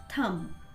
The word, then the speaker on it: thumb: B is silent in this word, so it's thumb, अंगठा.